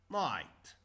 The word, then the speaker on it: night: Night. Night. Okay, we will talk today about IGH. Night. I. I. GH is not pronounced. These are silent letters.